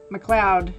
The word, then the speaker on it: MacLeod: do you say that McLeod is how you say it because I would think it would use felt like a cloud this looks like load